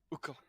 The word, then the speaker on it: Uko: You have to pronounce it that way and make a little bit of an accent. Uko, Uko.